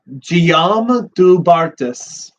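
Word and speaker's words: Guillaume du Bartas: But no, yeah, I don't speak French, so he's helping me pronounce it right. So, Guillaume Dubartas.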